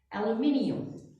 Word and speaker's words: aluminium: This is the way we say it in America. Aluminum. Aluminum. The British, on the other hand, they say it with aluminium.